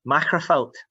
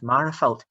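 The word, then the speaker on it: Magherafelt: hall, and I asked, stand up if you pronounce it Machrafelt, and half the school stood up and the other half remained seated because they referred to it as Marafelt.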